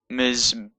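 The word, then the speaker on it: מִזְבֵּחַ: after the letter, but when it's at the end of the word, it's often pronounced before the end of the letter that it's underneath.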